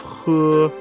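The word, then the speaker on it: 呼: dredge the heart Meridian the pronunciation of who like The Who and the English word Hoover the pronunciation is assisted by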